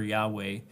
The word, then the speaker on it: Yahweh: of Jehovah it's really a misnomer it's a mispronunciation of the consonant for Yahweh but the vowels um somewhere else so when